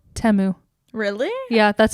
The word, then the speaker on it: Temu: three Teemu commercials which I guess it's not pronounced teu it's called temu really yeah that's how they said it really